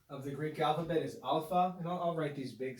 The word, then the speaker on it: alpha: greek letter alpha alpha this letter is pronounced just like the latin ah the normal classical ah so any time in greek that we see the letter alpha we're going to read it with the sound ah phonics in classical languages